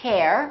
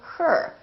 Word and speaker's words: her: like her h er we don't say hair we say her I love her I